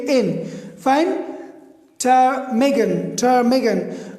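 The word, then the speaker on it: ptarmigan: टर्मेगन, टर्मेगन. Okay, सो इसमें टी से पहले पी आए हैं तो ये पी साइलेंट है.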